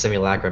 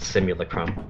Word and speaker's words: simulacrum: learned that simulacrum is a I Learned was pronounced simulacrum but I used to pronounce it simulacrum simul yeah one one of the big like